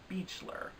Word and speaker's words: Beachler: I assumed it was pronounced Beechler because the word beach is in there, but her name was announced as Beechler on the Oscar telecast, so I assume that is the correct pronunciation.